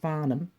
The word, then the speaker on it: Farnham: but it's just pronounced Barnum um a silent h in there uh yeah he's just